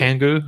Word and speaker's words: Kangoo: This appears to be Mercedes' version of the Renault Kangoo. Am I pronouncing that right, Martin? Yeah, okay. Absolutely. Kangoo, okay, because we don't get that over here.